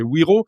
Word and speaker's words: Wero: Ce qu'est wiro ? Ça s'écrit W R, il faut le préciser.